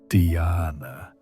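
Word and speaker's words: dhyana: The ancient texts describe this state of sustained attention as a doorway to what they call dana pronounced dana which is often translated as meditation but really means effortless awareness.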